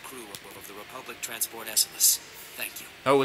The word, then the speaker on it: Esseles: the passengers and crew of the Republic transport esus thank you oh it's esus that's how you pronounce it well let us celebrate for a